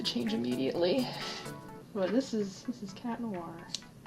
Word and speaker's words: Chat Noir: But this is Chat Noir, or in French, Chat Noir. You don't pronounce the T.